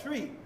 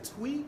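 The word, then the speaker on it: Twi: So that's a language called tree. Some people say tweet. It's spelled twwi.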